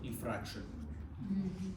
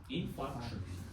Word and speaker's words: infarction: Please pronounce correctly, not infraction. Infraction, diffraction, it's our physical terms. Okay, infarction.